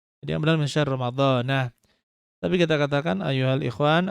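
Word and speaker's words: رمضانَ: Jadi Ramadana karena secara bahasa Arab dia itu mamnu' minas saraf. Mamnu' minas saraf, jadi baca dengan Ramadana bukan Ramadhani atau Ramadanin. Jadi yang benar min syahr Ramadana.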